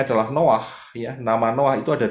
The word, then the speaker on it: Noah: Noah Noah Ini ya bahasa Indonesianya Nuh begitu ya tetapi sebetulnya adalah Noah karena ada dari dua huruf ingat ya bacanya dari kanan no Noah ya Noah yaitu